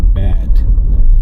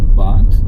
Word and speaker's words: Bad: pronounced in English like bad but is not bad in Germany in German language uh bad is pronounced bath and it means uh